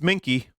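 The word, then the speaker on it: minke: find out real quick how to pronounce that it it's uh it's minky it actually is minky it says according to Wikipedia so yeah I think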